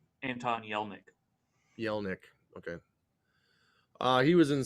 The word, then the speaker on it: Anton Yelchin: and you say his name better, I can't pronounce his name. Anton Yelchin.